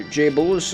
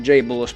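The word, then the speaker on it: Joblez: Biohazard Deathmatch, created by Joe Blaze, or J-Bulls, I think he preferred how it's pronounced, but his name is spelled like J-O-B-L-E-Z, and I don't know, he called himself, like, he pronounced his own name like J-Bulls, but I don't know,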